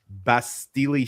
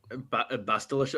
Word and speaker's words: Bastila: What is uh Bastili Sean? What is that? Is that a game thing? Bastila.